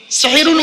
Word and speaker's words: সাহারি: করা কোরআনে আছে হাদা সেহরুন মুবিন সেহরুন মানে জাদু করা আর সিনে জবর দিলে 10 আকার দিলে সাহারুন মানে হলো রাতের শেষ অংশের খাবারকে আরবিতে সাহারি বলে তাহলে শব্দটা কি হবে সেহরি না সাহারি জোরে বলুন তাহলে জলসা